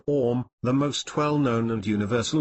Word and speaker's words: Om: Om, pronunciation Om, the most well-known and universal of the Biha mantras.